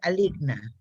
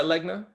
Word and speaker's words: Legna: it wrong in hispanic in english it's a league a league but you prefer legna yes backwards yes all right i want